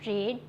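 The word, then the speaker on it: read: शी हैज़ नॉट रीड the books. इसको रीड नहीं रेड रेड बोलते हैं। रेड स्पेलिंग तो रीड का ही है लेकिन उसको हम रेड प्रोनाउंस करेंगे।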